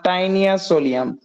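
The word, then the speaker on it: Taenia solium: creamy যেটা শুকরের ফিতা ক্রিমি এটার বৈজ্ঞানিক নাম টাইনিয়া সোলিয়াম টি এন আই এ টাইনিয়া সোলিয়াম টাইনিয়া বানানটা তোমাদের বই ভুল আছে একটু দাড়াও তো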